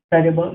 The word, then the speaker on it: সর্ব: হচ্ছে ওম সর্ব মঙ্গল মঙ্গল্য শিবে সর্বার্থ সাধিকে শরণ্যে ত্র্যম্বকে গৌরী নারায়ণী নমঃস্তুতে।